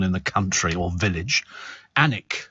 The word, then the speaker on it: Alnwick: ANIC, okay? ANIC. Even though it's spelt Alnwick.